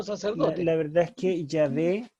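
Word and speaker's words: Yahweh: la verdad es que ya ve es la mejor pronunciación del nombre divino el está el estado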